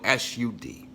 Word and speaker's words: Sud: I need you to understand the Sud, spelled S-U-D, pronounced like wood, Sud.